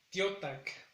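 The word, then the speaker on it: teotlac: En el caso de tarde es tiotac. Igual, el sonido más grave o más fuerte recae sobre la primera sílaba. Tarde entonces es tiotac.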